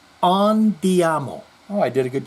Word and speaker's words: andiamo: In last week's comments regarding Gene, I used the Italian term andiamo, pronounced andiamo.